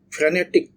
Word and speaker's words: frenetic: that activity as ktic so this is not frenetic ftic so the stress is on the second syel frenetic is a lot